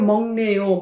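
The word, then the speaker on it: 먹네요: তাহলে কি হলো, মামুনসি ভাব মগ্নেয়, উচ্চারণ হবে মগ্নেয়, মং 19কার, ম 19কার মগ্নেয়, ঠিক আছে?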